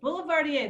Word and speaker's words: boulevardier: pronounce this negroni and boulevardier no boulevardier boulevardier that's it okay these spirits of